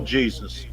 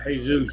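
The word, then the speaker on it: Jesús: Well, instead of saying Jesus, pronounce J as H. They call it Jesus. Yeah, Jesus. That's right. Jesus. But again, that's a Spanish name.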